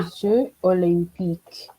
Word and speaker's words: Les Jeux olympiques: Les Jeux olympiques. Okay, for this one though, there is a liaison.